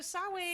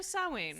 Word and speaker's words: Samhain: So Samhain, Samhain, which is spelled Samhain, but Because it's pronounced nothing like is easy.